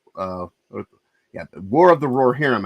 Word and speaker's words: Rohirrim: yeah War of the roar herum I have to actually say it right otherwise I'm going saying roar of whum which I do all the time um but uh but